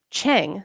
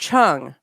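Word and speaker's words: Cheng: English this whole time the E has an accent over it which tells you to make the uh sound from the Chinese translation it's supposed to have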